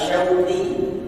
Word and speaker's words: Syauqi: Contoh, nama saya yang diberikan saya punya orang tua adalah Syauqi, Shin Waw of Ya, Syauq, yang mempunyai arti kerinduan.